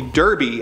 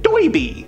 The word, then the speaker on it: Derby: Green Lantern Alan Scott his nickname is actually Derby after the Hat he's always wearing but his heavy accent makes him pronounce it doiby he was a skilled